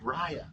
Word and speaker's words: Rya: So, I always pronounce it right. It's okay. It's Raya. Raya.